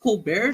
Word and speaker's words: Colbert: Colbert oh cool Brian it's it's pronounced Colbert they don't want it's even Colbert oh is he doing